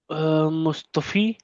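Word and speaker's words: مصطفی: ठीक है, अब मुस्बता है, ये मुस्बती नहीं है, सॉरी मुस्तफा है, मुस्तफी नहीं है।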